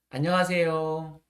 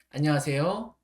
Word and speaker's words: 안녕하세요: 그래서 우리 다 같이 인사를 한 번만 더 해 볼까요? 안녕하세요. 안녕하세요. 자, 어디만 올라가죠? 맞아요. 제일 끝에만 올라갑니다.